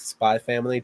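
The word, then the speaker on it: Spy × Family: apparently is your name right apparently it's like spy family just like hunter hunter doesn't pronounce yeah yeah it's spy family like higher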